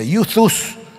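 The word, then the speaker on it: εὐθύς: Y fíjense ustedes qué curioso, el evangelio según San Marcos usa la palabra griega que se escribe Euthus y se pronuncia Euthus, que no tiene nada que ver con YouTube, por cierto, es otra cosa.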